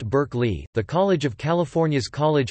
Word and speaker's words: Berkeley: The philosopher's name is pronounced Berkeley, but the city's name, to accommodate American English, is pronounced Berkeley.